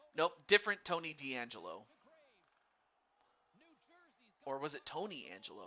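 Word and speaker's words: Tony DeAngelo: even say it it was niches and now Tony D'Angelo uh no relation to I think it was uh Tony D'Angelo from NXT or or the WWE I should say nope different Tony D'Angelo or was it Tony Angelo I'm not sure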